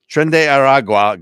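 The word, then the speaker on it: Tren de Aragua: Trende Aragua gang, or Yeah, Trende. Thank you. Trende I Aragua. would have butchered that, but Yeah.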